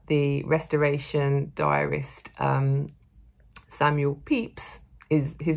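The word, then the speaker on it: Pepys: restoration diarist um samuel peeps is his name is pronounced peeps although it is not spelt like that um well i did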